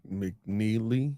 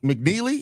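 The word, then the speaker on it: McNeeley: Um Lean McNeely. McNeely.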